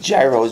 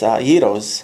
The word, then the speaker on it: gyros: Everyone says gyros, but if you just skip the G, start with the Y, Y-E-E-R-O-S, it's gyros.